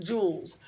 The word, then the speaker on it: joules: It sounds like a diamond or something, but it's spelt different, joules.